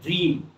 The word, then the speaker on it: dream: Now the next one, DREAM, প্রথম vowel হলো ই, দ্বিতীয় ভাওয়েল হলো এ, আমরা এ উচ্চারণ করব না। কি হবে, ড্রিম, DREAM, ড্রিম, ড্রিম, ড্রিম স্বপ্ন।